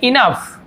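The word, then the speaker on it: enough: इनफ, जैसे मैंने बताया जी यहाँ पे साइलेंट होता है।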